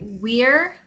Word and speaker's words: we're: But try to say we're, not just we. So this is we are, but it's a contraction. It's pronounced Were. were.